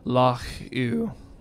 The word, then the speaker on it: Loch Ewe: And the IU, I don't know exactly how they pronounce that, but it makes sense to me that it's Loch Ewe, like Hugh without the H.